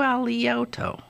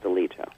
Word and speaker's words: Alito: why did i do ali yoto thank you i don't know but his name is pronounced deleto yeah there's no other